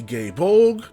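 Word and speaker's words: Gae Bolg: One example is the gay bulg. That's how they pronounce it.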